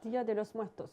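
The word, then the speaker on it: Día de los Muertos: Dia de los Muertos.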